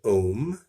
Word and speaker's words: om: was the Sanskrit word ohm you could spell it om in English oh as an orange Amazon mother Oh has no meaning in